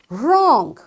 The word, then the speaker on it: wrong: So wrestling, this W is silent because there is R after this W. Likewise, wrong.